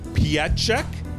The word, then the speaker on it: Pietrzyk: are with erica and i'm going to try to get this right pierce correct you did great you did great i